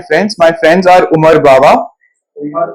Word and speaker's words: Bava: My friends are Umar Bawa. Umar Baba. Umar Bawa. Yes, sir. Spell it.